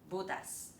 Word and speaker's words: bútas: Similarly, Filipino is a language with stress. If you read the stress incorrectly, the meaning changes. Okay, let’s take a look at the left side and the right side. They are corresponding tables, but their stress is different. hole (bútas) perforated (butas) One is bútas; one is butas You see, they are different.